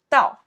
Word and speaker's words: 到: We say 到 right here. Fourth tone 到从 from 到 to.